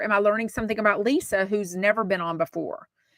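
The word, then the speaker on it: Liza: so the second hour was Lisa but it's spelled Li I Za a Trager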